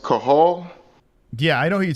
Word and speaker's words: Cathal: It's spelled Cathal, but I think it's pronounced Cahal.